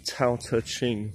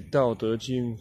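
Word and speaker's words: 道德經: the Dao De Jing, sometimes pronounced the Tao Te Ching or the Dao De Jing, you know, Dao De Jing, Tao Te Ching or Tao Te Ching. But in Mandarin, it's actually Dao De Jing.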